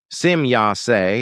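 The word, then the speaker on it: Semjase: my daughter Simy Yas when the e at the end of the name is pronounced in English as an I. Simya is a very old name which we playarin took from an old Lyron dialect. It means the demi goddess. But if the e at the end of the name is pronounced as an i as it for example done in the English language then this results in a very evil unvalue.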